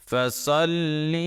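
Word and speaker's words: فَصَلِّ: তাসদিদ থাকলে কিন্তু দুইবার উচ্চারণ করতে হবে অক্ষরটাকে। তো সাদ লাম জবর সল, একবার উচ্চারণ হয়ে গেছে লাম, এরপরে লাম জের লি, আবার উচ্চারণ করলাম লি। ফাসল লি, লামকে দুইবার উচ্চারণ করছে।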